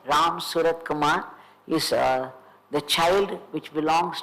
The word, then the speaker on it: Ramsuratkumar: But Ganapati said, it is Surat Ramkumar. Ganapati himself told me that. So Ganapati ji said it wrong. Then Paramacharya corrected him saying, no, it is Ramsuratkumar.